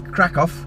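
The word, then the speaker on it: Kraków: got a friend in Krakov Krakow whether you pronounce it so I'm gonna do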